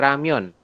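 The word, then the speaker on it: 라면: n nah penulisannya berarti menjadi seperti ini ramion dibacanya ramion ramion Ya heeh tapi tulisannya seperti ini jangan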